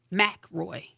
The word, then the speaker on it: Mackroy: the show before and that would be Tamara ma Roy did I did I pronounce it right yes she did yes now